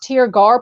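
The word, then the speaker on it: Tirgearr: was an acceptance from my publisher called It's pronounced tear gar publishing she is a small press but she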